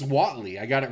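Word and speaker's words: złoty: oh so they pay it's pronounced oh it's pronounced Watley I got it right they pay once they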